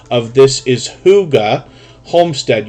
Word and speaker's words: hygge: pronunciation of this is hygge homestead you would almost think of it as h-o-o-g-a homestead uh but they've been